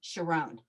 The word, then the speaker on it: Sharon: to this wedding, and they pronounced in Hebrew Sharon, Sharón."